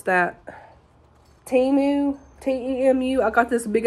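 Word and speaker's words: Temu: my big old package from how do you pronounce that timu t-e-m-u I got this big old order they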